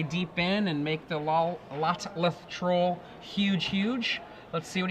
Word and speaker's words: Lotleth: Lolteth. How do you say that? Lolteth? Lotleth Troll. Lotleth.